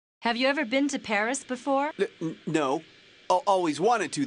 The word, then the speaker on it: Paris: Yeah, well, the locals pronounce it Paris.